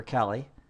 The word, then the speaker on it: Kali: What Bob could do is he could create a Kali Linux box as a virtual machine. So I'll put K there for Kali. Or if you want to pronounce it Kali, either way.